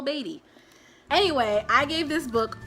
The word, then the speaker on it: Beatty: saying his name wrong I kept saying Paul Beatty it's not Paul Beatty it's Paul baby anyway I gave this